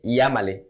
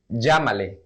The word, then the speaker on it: llámale: We don't say llámale, llámale. That sounds very weird and no one uses it like that. So we would rather say llámale, call him, llámale. Always with this pronunciation, with the J pronunciation, llámale.